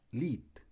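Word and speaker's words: Lied: gusta mucho con la palabra alemana y se pronuncia lit que traduce canción en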